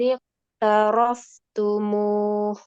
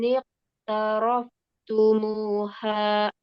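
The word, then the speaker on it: اقترفتموها: Baris Wa amwalun iqtaraftumuh. karena ada alif dibaca. Tumuha. Ya, tumuha. Wa amwalun iqtaraftumuha.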